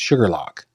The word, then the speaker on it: Shuqualak: Gavin, there's a town in Mississippi spelled Shuqualak that is pronounced Sugarlock.